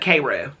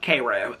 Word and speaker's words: Cairo: famous Town Cairo um but they call it kou okay which is so funny because here in